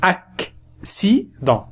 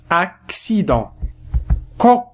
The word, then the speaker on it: accident: إذا كان لدينا حرفي سين متتاليين. في هذه الحالات التي سأتطرق لها اليوم، الأول ينطق بالكاف والثاني ينطق بالسين. أكسيدون، أكسيدون.